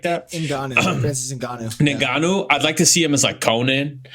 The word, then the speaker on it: Ngannou: Ngoku or something like that? Ngannou.